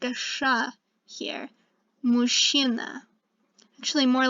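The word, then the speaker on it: мужчина: means man and notice that the chia is pronounced like a sha here mushina actually more like a sha and it means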